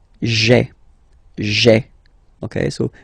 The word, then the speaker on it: j'ai: you get this sound j'ai, j'ai, okay. So j apostrophe ai. Remember, when you combine this ai, you get the e sound, okay.